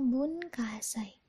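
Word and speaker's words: 文化祭: masih inget Hai Nah bunkasai bunkasai bunkasai ya dibacanya bunkasai Nah tadi scan itu tanggal yetangga bulan 12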